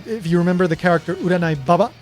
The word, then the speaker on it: Uranai Baba: Except in her case, it's not Uranai Baba, it's Uranai Baba. And it can be Baba or Baba. Either one is fine. They're both basically the same word, just different pronunciation.